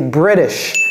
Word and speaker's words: British: Non, c'est British. Vous voyez comment j'ai prononcé les I? British.